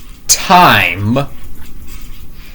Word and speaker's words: time: Uh, the word is time, you know. Yeah. Well, you know. Yeah. Cuz sometimes the E the E can be silent because because this is because